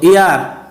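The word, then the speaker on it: heir: তো ইয়ার, এখানে হিয়ার না, এটা হচ্ছে ইয়ার, ইয়ার অর্থ উত্তরাধিকার, এজন্য এখানে অ্যান বসবে। এই উচ্চারণ যদি হয়ের মতো না হয় তাহলে তার আগে অ্যান বসে।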